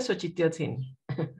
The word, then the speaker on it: Xochitiotzin: Se pronuncia Xochitiotzin.